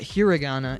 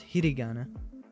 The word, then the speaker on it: hiragana: Um, it's not hiragana, it's hiragana.